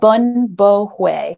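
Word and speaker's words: Bún bò Huế: Bun Bo Hue.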